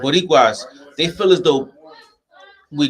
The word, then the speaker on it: Boricuas: Boricuas, they feel as though we're different, right?